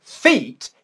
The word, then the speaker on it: feet: fit fit whereas for feet it's a long english vowel sound now the big difficulty